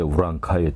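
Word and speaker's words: 올량합: 기록에 보면은 야인이라고도 나오고 여진 또 오도리 그다음에 올적합이라고 하는 건 우디케라고 읽고 또 올양합이라고 쓰고 이제 우랑카이 또는 되게 우리말로 이제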